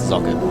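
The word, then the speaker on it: Socke: Not to be confused with Zaka, the German player who people say is Sock, but it's not correct. Yeah, it means sock, but it's pronounced Zocke.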